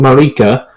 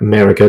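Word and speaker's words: Marika: the story is Queen Marica or America depending on your pronounce iation and what she did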